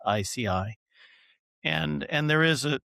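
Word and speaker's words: IASEAI: He's professor at Berkeley and he's one of the founders of the International Association for safe and ethical AI pronounced ICI.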